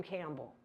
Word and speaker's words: Campbell: And then I was a little perplexed by why is Eliza down here with this guy, William Campbell? And it's spelled camel, but it's Campbell, like the soup.